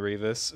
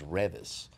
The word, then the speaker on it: Reavis: wife is here is Revis oh okay no that's fine nobody has been able to pronounce my name since beas and Butthead everybody through the 80s